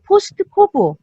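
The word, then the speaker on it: POSDCORB: 자, 귤릭의 경우 행정활동의 기본 원리를 포스트코브. 자, 이게 이제 우리가 발음학적으로는 포스트코브인데 각각의 이니셜마다 그 뜻이 있죠.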